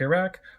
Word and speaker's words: Iraq: out loud that included place names with variable pronunciations like Iraq Iraq or Iran Iran then I had them do